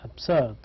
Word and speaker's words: absurd: It is written with a B, but it is pronounced with P.